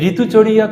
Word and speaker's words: ঋতুচর্যা: হয়তো অনেকে ভাবছো যে এটা তো ঋতুচর্যা এটাকে আবার ঋতুচরিয়া এরকম উচ্চারণ হচ্ছে কেন ঋতুচর্যাটা কিন্তু বাংলা উচ্চারণ আর সংস্কৃত উচ্চারণ হলো ঋতু চরিয়া তো এই যে ঋতুচরিয়া